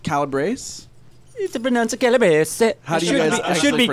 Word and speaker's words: Calabrese: confirmed confirmed confirmed Wow so is it pronounced Calabrese bonanza kilobits it should be calibrated okay but okay the brace brace but yeah we've always the family always said Calabrese so we did that's probably the Ellis Island